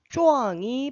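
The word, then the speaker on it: 壮: 자, 그랬더니 박대이 오 짱파인 차 또네 짱과 쪼앙이 발음이 비슷하네 그랬습니다. 잘 안 들리겠죠? 쪼이라는 발음이 잘 안 들려요. 쪼앙 하면은 짱 이렇게 들리기도 해요.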